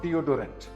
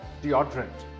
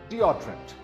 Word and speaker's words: deodorant: This word is not deodorant. It's pronounced as deodorant. The second syllable is stressed. Again, this word is deodorant.